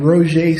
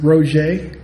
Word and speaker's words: Roger: Um and the lead author was a guy named Roier Stoop. It's spelled R O G E R but he pronounces it Roger and he'll get mad if you call him Roger.